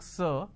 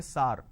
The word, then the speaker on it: sir: changes of this word majority of the people pronounce the word sir as AR can you please answer my question so instead of saying sir they say SAR so this is a